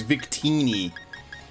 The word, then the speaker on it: Victini: sorry Victini I'm sorry I forgot how to say it guys it's Victini oh how will I